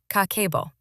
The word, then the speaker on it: Kakeibo: In Japan, there's a 100-year-old budgeting system called Kakeibo, pronounced Kakeibo.